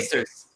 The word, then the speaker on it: Quaestors: I actually know how to pronounce Quaestors from role playing as a kid. Quaestors.